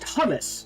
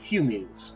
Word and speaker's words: Hummus: Okay, so they're pronounced hummus, not humans.